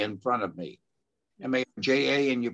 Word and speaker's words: Marja: First of all, Mara, how do you pronounce your name? Marja. M-A-R, I have J in front of me. M-A-R-J-A, and you pronounce it what?